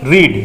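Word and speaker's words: read: মূল ভার্ব কি, রিড, রিডের কনজুগেশনে বানানগত কোনো পরিবর্তন না, প্রোনাউন্সিয়েশনে পরিবর্তন হয়, রিড, রেড, রেড।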